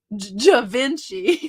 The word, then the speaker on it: Givenchy: wow you guys Mary knew that too jevince Givenchy because it's Southern I'm glad it's pronounced the way you say it it sounds